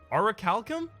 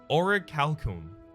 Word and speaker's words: orichalcum: ik Cal come orichalcum I was told I'm pronouncing this incorrectly orichalcum orichalcum I believe is was what I was given as a prompt for it I it's never gonna be useful in my deck but thanks very much for the corrected my pronunciation on that I appreciate it I'd rather be corrected once than wrong forever Sharon's ashes pretty good